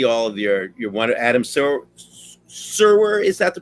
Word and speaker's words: Serwer: And when I see all of your one, Adam Serwer, is that the pronunciation?